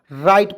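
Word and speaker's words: write: रिंस मीस कुल्ला करना डब्लू आर आई टी तो बहुत लोग राइट पढ़ लेता है नहीं इसको डब्लू को साइलेंट रखते हैं आर आई टी ई राइट पढ़ते हैं राइट मींस होता है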